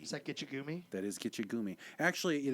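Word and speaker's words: Gitche Gumee: Actually, it is pronounced probably more appropriately, Kitchikume. And the E sound is probably not a long E sound. It's probably more like an like an I.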